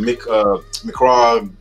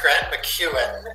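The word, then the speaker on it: Grant MacEwan: I know you went to, well, was it McCraw with Grant McCraw University in Edmonton? It's actually pronounced Grant McEwen, who was a political figure out in Alberta, Canada.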